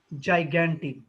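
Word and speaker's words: gigantic: বলেছে বলো that's why তোমার অ্যানসারটা হবে হচ্ছে জাইগ্যান্টিক উচ্চারণটা করো আবার বলো জাইগান্টিক্যান্টিক তোমাকে আরো ওয়ার্ড মিনিং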